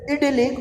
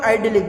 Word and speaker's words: idyllic: He wished to consider marriage an idyllic or idyllic, both pronunciation American and British, idyllic or idyllic state.